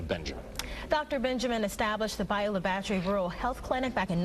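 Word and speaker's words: Bayou La Batre: Bayou La Battery.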